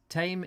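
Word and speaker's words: Thame: um and ben reeve tame is pronounced tame like the tame animal sound thank you thank you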